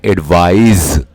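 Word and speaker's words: advise: और इसको प्रोनाउंस करते हैं एडवाइस और इसको प्रोनाउंस करते हैं एडवाइज।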